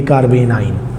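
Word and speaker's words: carbanion: कार्ब एनाइन मिला के इसे प्रोनाउंस करेंगे कार्बेन आयन।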